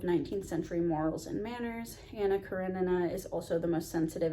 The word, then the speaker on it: Anna Karenina: Up until like a month ago, I always thought this book was pronounced Anna Karenina. So I'm uncultured, as we all know, but it is actually pronounced Anna Karenina.